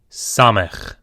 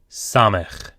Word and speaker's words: Samech: Samech. Samech. This is an S sound, as in Sam or Samantha. Samech.